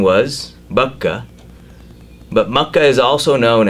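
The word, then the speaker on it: Baca: In the Old Testament, there is passage in Psalms where it refers to the blessed valley of Bakka, or Bakka as they call it, B-A-C-A is the way they spell it.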